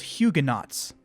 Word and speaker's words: Huguenot: Francis was initially receptive, but he distanced himself from Protestants in France called Huguenots. Yes, I know it's pronounced Huguenot in French, but I'm not speaking French, am I?